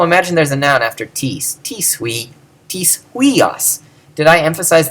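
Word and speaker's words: τις: This one doesn't have a written accent, but is pronounced with it.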